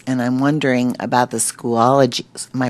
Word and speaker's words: Schoology: in teacher webpages and I'm wondering about the school ology my pronouncing that right school ology Schoology Schoology I'm wondering if there are you know